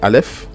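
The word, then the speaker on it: אלף: En général, franchement, le Aleph, c'est vraiment une lettre muette.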